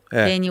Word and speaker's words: Kanye: Kanye West, eu tô falando o nome dele errado, desculpa, gente.